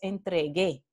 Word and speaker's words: entregue: entonces g la aquí sirve para decir que no es entre g es entregue no la la sílaba